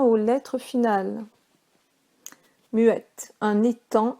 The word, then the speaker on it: étang: Muette, un étang avec un G qui ne se prononce pas, comme dans sang, S-A-N-G.